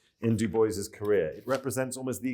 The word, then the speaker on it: Du Bois: own handwriting shows that it is not pronounced the French way. Despite our Parisian focus today. Very clearly, Dubois.